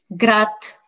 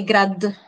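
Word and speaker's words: град: We never pronounce a voiced one at the end of a word. For example, grat. I cannot say grad. I will say grat.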